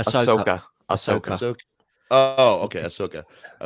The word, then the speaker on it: Ahsoka: Yeah, Hayden Christensen returning to Star Wars with, how do you pronounce that? Ashoka? Ahsoka.